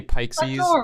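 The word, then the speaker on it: Peixes: to say the very pixis pikes because it's pike oh pike your name is pikesus some people also say pikesies like pike and pixies yeah but i think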